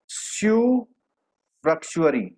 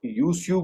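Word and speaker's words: usufructuary: स्यू फ्रक्चुअरी, कई लोग इसको प्रोनाउंस नहीं कर पाते, प्रोनाउंस क्या होता है, कई लोग उसको यूस्यू बोलते हैं, कुछ को यूसू बोलते हैं, इसमें यू साइलेंट है।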